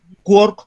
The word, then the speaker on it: quark: Entonces, según Gell-Mann, quark como partícula había que pronunciarlo rimando con la ciudad de Cork.